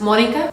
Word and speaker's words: Monica: In Spanish it is pronounced Monica, like accent in the O, and in English it is pronounced Monica. So that's one of the main reasons that I go as Monica.